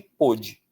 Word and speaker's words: pôde: A gente vai ter aí, ó, pode, pôde. Pode, pôde. O que justifica o acento de pôde? Vamos pensar? Separação silábica. Pôde, poder. Duas sílabas. Onde está a força de pôde? Na penúltima.